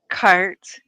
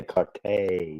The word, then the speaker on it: carte: I mean, I don't know if you're just being funny or whatever, but you do know it's pronounced cart, right? I say carte, but it's cart.